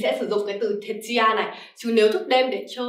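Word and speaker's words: 徹夜: Thức đêm thì mình sẽ có cách đọc là thế chứ ya ですね, thế chứ ya.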